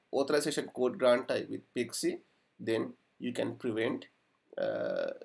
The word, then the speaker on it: PKCE: code exchange or pkce we pronounce it as pixie pixie was introduced in the